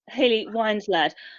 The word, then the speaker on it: Hayley Winslade: But first, the next question is by Hayley Winslade, if I have pronounced the name correctly. Hello, yes, it's Hayley Winslade.